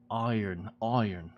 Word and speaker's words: iron: This one's a weird word. Iron. There's no R. There's no R at all.